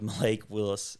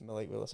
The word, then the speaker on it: Willis: This is the first time I've even heard of Malik Willis. Yeah. I don't know who was he before. well, it just rhymes with Will Levis.